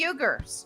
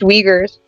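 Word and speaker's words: Uyghur: was outspoken about the yugar all right it's uh it's pronounced Wagers Wagers I'm sorry um but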